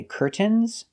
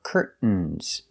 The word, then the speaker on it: curtains: are curtains pronunciation curtains we have two correct pronunciations you can say curtains pronouncing the T or curtains making a stop T Curt and then fall to the N curtain curtains so the two pronunciations curtains or curtains curtains is the more common pronunciation in American English let's practice with these